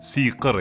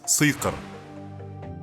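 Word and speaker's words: сиқыр: For example, how it should be and shouldn’t: not “мій”, but “мый” not “бійдай”, but “быйдай” not “жійын”, but “жыйын” not “сійқыр”, but “сыйқыр” That's the whole problem with the letter “И”.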